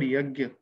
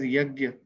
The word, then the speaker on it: yajna: See, you all have heard this word yajna. Okay, so there are two ways of pronouncing it. One, people say it as yagya, that is Yagya, and another set of people pronounce it as yajna.